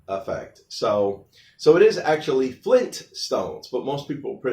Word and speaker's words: Flintstones: So it is actually Flintstones, but most people mispronounce it as Flintstones.